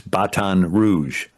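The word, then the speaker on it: Baton Rouge: the redstick creek Indians and you know the pronunciation of red stick in French it's batan rouge baton rouge and so the the f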